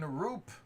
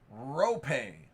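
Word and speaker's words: Roope: Rookie signature shot out of 249, Roop Heinz. Out of 65, that is an autographed stick relic of Sam Steele, rookie. Rope.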